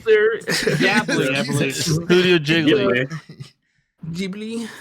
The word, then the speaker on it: Ghibli: It's pronounced Jiggly. Ghibli, I believe.